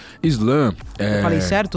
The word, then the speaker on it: slam: Islan. Só, só, só eu acho que é importante contextualizar. Islã escrito S L A M, que é a mesma pronúncia do, do, do país, né?